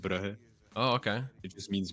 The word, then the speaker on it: Brugge: It's I think pronounce it Bruges in English. Bruges. We pronounce it Brugge.